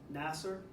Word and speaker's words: Nasser: Nasser? Okay, so the up front is where the emphasis is.